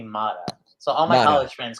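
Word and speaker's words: Motta: photographer justin no my actual last name is m-o-t-t-a and uh did they change it when they ellis island yeah yes from from italy correct yeah um calabria and uh naples so they they pronounce it but my friends all call me mata so all my college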